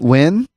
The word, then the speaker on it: Nguyen: i only wish you would have tried to pronounce this one yeah and um wait wait wait dong win dong when yeah okay so n-g-u-y-e-n i like